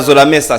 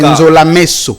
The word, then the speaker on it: Nzolameso: Zolamesa, ce n'est pas facile de prononcer ce nom. Hervé Maïtouka, Joël Mouka. C'est Nzolameso. Nzolameso. Ouais. Voilà, donc j'avais bien prononcé.